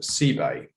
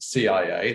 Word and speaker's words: CebAI: some issues with this i'm referring to this pronunciation c bay ebay where the c comes in that you'll find on the coast and i include exhibit a here in terms of how it might be recognized and pronounced i am not talking about c a i or